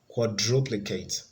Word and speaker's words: quadruplicate: the third syllable B quadruplicate quadruplicate so that has the stress on the second syllable it should be here